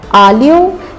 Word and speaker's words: aglio: Instead, say aglio and let that E that follows slide into the olio, and you'll sound just like you're from Napoli.